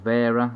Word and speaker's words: Wera: A lot of their stuff is made by Ingersol Rand, Irwin, Gearwrench, Wera, or Vera as the Germans like to pronounce it.